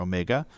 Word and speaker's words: omega: ohm and it's symbolized by the greek letter omega or and i kid you not because that's